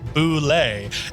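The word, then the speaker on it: Bulette: don't listen to her I Googled connect correct pronunciation for uh for that word for this monster and it says correct way is Boule and then it showed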